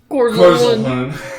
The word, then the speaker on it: Korzalin: It's Korzalin. Korzalin. You have to say it like Korzalin.